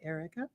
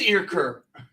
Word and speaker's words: Earker: is spelled differently well my name is not erica it's ear just like it's spelled it is ear curve you know what i